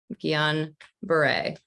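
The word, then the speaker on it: Guillain-Barré: it's um you know two french guys that's how bob makes it simple gion beret it's a syndrome and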